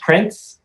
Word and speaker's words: Prenz: way it is, but it's spelled Prenz, but it's pronounced Prince, just like Prince, just like the royal family, Prince, Princess.